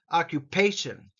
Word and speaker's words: occupation: nationality next Word occupation four syllables occupation the emphasis here is on pay occupation please say it silently